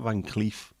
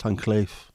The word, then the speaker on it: Cleef: It's not pronounced Cleef. I felt like shouting at the screen. It's not Van Cleef. It's Van Cleef.